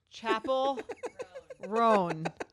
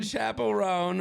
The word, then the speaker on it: Chappell Roan: I'm obsessed with um Chapel ran Chapel rone uh Belle just helped me with my pronunciation Chapel rone who is the young